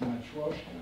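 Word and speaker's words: Matroška: I call it Matroska, but sometimes you write it with the special S, which has to be pronounced sh. So it's Matroska, if you want.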